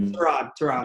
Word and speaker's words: Tyrod: So don't want to get Tyrod mad. He'll always be Tyrod God to me.